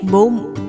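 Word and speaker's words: bụng: in Vietnamese to say belly you just say boom to say belly you just say boom say belly in Vietnamese repeat after me please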